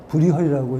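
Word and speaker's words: Bruegel: 네덜란드어로는 뭐 브리헐이라고 읽는다 그러죠, 브리겔.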